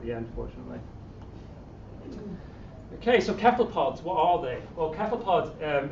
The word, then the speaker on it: cephalopod: Joking aside, it's actually a Greek word, so my understanding is, and my feeling is that if it's a Greek word, you should say it like the Greeks say it, and they say cephalopod.